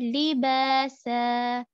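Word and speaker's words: لباسا: Here, make sure to pronounce the lam properly, and there is kasra on lam, which means that we are going to read it quickly because it is mutaharrik. Li, li, like this.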